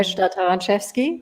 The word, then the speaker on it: Taranczewski: in the beginning with my name uh taranchevsky which uh uh bamboos you pronounce it beautifully um you can already see